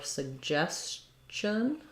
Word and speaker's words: suggestion: for you though for suggestion um we have second syllable stress suggest um so we have two G's and one says J and one says G here so G um says the G sound so it starts with